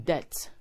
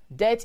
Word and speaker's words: debt: instance you are in debt debt is spelled d-e-b-t when pronouncing the b is silent therefore it is not depth but that please be